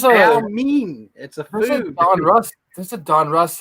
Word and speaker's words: Donruss: meme this is a Donruss like alternate pronunciation that I hear on Rhys or something no it's called Donruss thunderous I never heard Donruss it was always like Don Russ you know OPG it just